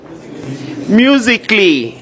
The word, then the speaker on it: musically: Musically, again, A is silent.